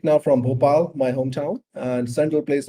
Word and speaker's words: Bhopal: close to another city it's simple it's an it's bhopal so uh it's just popular yeah yes you did